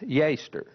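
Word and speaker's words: יֵצֶר: imagination here is from the Hebrew word ye TSE are pronounced yeh stir as the translators have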